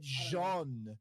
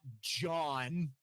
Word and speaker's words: Jean: I said Jean, not John.